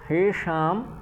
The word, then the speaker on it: हैषां: पतन्ति पितरो हैषां, और मूर्धन्य षकार है तो उसका भी उच्चारण करना है।